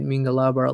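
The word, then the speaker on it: မင်္ဂလာပါ: from myanmar just said mingalabar let let me see okay okay hello which is my surname mingalaba okay although you spells it p-a-r but you can pronounce ba like bar right is that correct me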